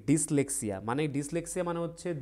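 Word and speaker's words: dyslexia: Rafia next কি বলছে what is ডাইলেক্সিয়া বা ডিসলেক্সিয়া সরি উচ্চারণটা কি হবে ডিসলেক্সিয়া তাহলে ডিসলেক্সিয়া কি ঠিক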